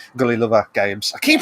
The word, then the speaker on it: Gullilover: enjoyed it trans has enjoyed it i'm sure gulliver gully lover games i keep saying why you've been saying